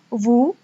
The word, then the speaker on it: vous: Kemudian ada vous, sama seperti nous, S tidak dibaca, jadi hanya vous.